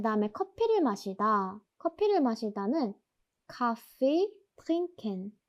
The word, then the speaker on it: Kaffee: 여기서 A가 두 번 나왔잖아요. 이거는 이 A를 길게 발음해줘야 한다는 뜻이에요. 그리고 여기 아 같은 경우는 아 뒤에 자음이 두 개 나왔잖아요. 모음 뒤에 자음이 두 개가 나오면 모음을 짧게 발음해야 된다 했습니다. 그래서 여기서 아는 짧게 그리고 A는 길게 발음해 주셔야 합니다.